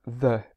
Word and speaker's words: the: do that when a word begins with a vowel such as Atlantic Ocean if there is a word the before it it normally changes to thee so naturally we would say the Atlantic Ocean whereas we would say the North Sea there's a little pronunciation